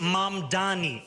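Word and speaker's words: Mamdani: And furthermore, the name is Mam Dani. M A M D A N I. You should learn how to say it because we got to get it right.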